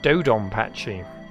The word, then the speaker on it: DoDonPachi: what he said to me Dom patchy and dodonpachi there you go there's an excellent Japanese pronunciation for me again corrected oh I